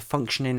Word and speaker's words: functioning: how s sings them naturally speaking the hardest stress is on the first syllable with the other two gradually getting weaker conversely Swift has placed